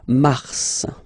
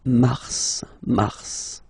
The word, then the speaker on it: mars: So in a way it's an exception because normally final S is not pronounced in French, okay? We've got some exceptions, and this one is one of them. So mars, pronounce the final S, mars, okay?